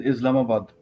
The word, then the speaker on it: Islamabad: First of all, the real pronunciation for that is Islamabad.